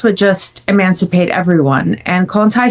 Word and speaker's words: Kollontai: But who was Alexandra, how am I say it correctly, Kollontai?